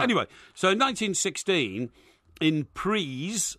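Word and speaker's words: Ypres: so in 1916 in priests that's spelled y-p-r-e-s apra yeah they don't pronounce it preez anyway anyway so the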